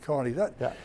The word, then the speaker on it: Kearny: Yeah, it's spelled Kearny, but it's pronounced, Irish pronounce it Kearny.